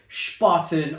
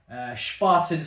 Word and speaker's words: Spaten: Spaten, for me, the way it's pronounced always makes me think of that scene in 300. You know, the one where it's like, Spartans! Or, this is Spartan!